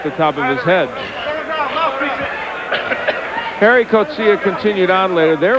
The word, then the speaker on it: Gerrie: It spelled like Gerrie, but he pronounces it like Harry. He says Harry Coetzee, although Jimmy Lennon called it Gerrie, but always in the past he liked it pronounced without the J sound.